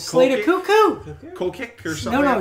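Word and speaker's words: Koekkoek: I can't pronounce his name. It's like... He is Jim Benning's worst nightmare. It is like Koekek or something like that. Yeah. It's Slater Cuckoo. Koekek or something. No, it's Slater Cuckoo.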